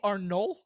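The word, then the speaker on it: Arnolt: as was widely expected charlie arnold i believe the t is silent better known as charlie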